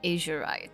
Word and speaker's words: azurite: Okay, he is going to pick the Azurite. Is that how it's pronounced?